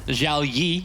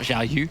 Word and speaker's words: Zhao Yi: Zhao Yi, as we've now been told, is he's pronounced, not Zhao Yu.